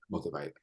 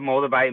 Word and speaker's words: Moldavite: If you So it's pronounced Moldavite. Moldavite. Okay. I mean, you were pretty much spot on. There's no tomato. Okay. But above Moldavite Mountain, Moldavite is a green crystal gem that